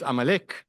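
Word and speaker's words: Amalek: So until these days, Amalecch is I don't know how how you say it in English even, but in in Hebrew it's Amalecch.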